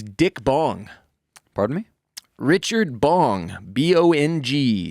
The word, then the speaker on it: Bong: badass vet is dick bong pardon me richard bong b-o-n-g spelled like it sounds like it smokes bong was